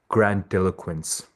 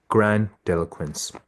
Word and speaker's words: grandiloquence: go over the pronunciation the word would be pronounced grandiloquence again grandiloquence all right we'll move on to the next